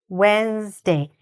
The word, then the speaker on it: Wednesday: So here, it sounds like it's got a lot of syllables, but actually, when we say it, it doesn't. Wednesday. How many syllables did you hear? Wednesday. 2. Okay? It only has 2 syllables.